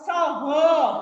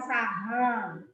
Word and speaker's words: saha: Moco soho bukan saha.